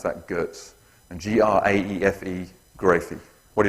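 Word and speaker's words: Goetz: of pronouncing correctly but I'm told he was German and I'm going to say it was Gertz okay it's spelled g-o-e-t-z I'm going to pronounce that Gertz and g-r-a-e-f-e grocery what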